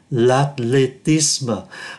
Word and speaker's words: l'athlétisme: Trước hết chúng ta nói lúc nãy là trong các ký tự này, ký tự as không phát âm, ký tự as này không bao giờ phát âm, thì còn lại là l'athlétisme.